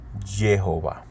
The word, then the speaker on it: Jehová: Con los puntos vocálicos completos se pronuncia Jehová.